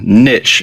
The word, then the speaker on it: niche: of membership sites choosing the right niche or niche as some people pronounce it for your membership site